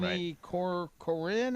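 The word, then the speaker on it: Harmony Korine: Harmony Corinne, is that how you say it?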